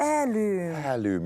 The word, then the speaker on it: heirloom: Well, when you say it like that, heirloom. You've got to drop the H.